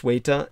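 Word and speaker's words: Ceuta: here we are uh this is of course suita and malila suite is spelled c-e-u-t-a malila spelled m-e-l-i-l-a and suita and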